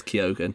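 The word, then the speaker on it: Keoghan: sorry I'm just I found out how to pronounce Barry kogen it is kogan I'm just finding out how you pronounced Jacob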